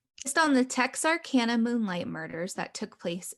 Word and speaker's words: Texarkana: Texarkana. Texarkana. Is based on the Texarkana Moonlight. What did you, Todd? I said it's a cool town. Been there. Oh, all right. Based on the Texarkana Moonlight murders that took place in what year?